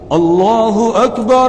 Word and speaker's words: اللہ اکبر: بہت کھینچ دیتے ہیں، بعض کیا کرتے ہیں الہ میں جو ہا ہے بعد میں اس ہا کے بعد الف لگا دیتے ہیں، اس کو کھینچ دیتے ہیں، وہ غلط ہے۔ صحیح تلفظ یہ ہے